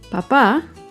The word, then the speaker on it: papá: Papa lleva el acento en la primera sílaba. En cambio, papá lleva el acento en la segunda sílaba.